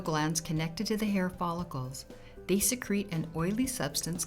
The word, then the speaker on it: follicle: First is the follicle, pronounced follicle.